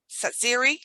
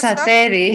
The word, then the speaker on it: Tsateri: Okay, Tsateri. Did I say that right? Close Tsateri. Tsateri. Sorry.